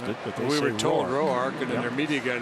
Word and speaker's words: Roark: We've been told since he got to the big leagues that he pronounces it Roark.